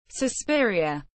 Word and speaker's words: Suspiria: Suspiria, pronounced susઃpi.ri.a, Latin for sized, is a 1977 Italian